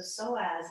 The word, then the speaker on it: psoas: into the psoas muscle so so as is spelled PS o a and the psoas muscle